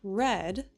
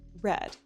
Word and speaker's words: read: written, read, read. It's spelled the same, but it's pronounced like red, like the color. And the past participle is also red.